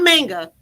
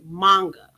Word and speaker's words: manga: No, I'm saying it wrong. It's not manga. It's manga.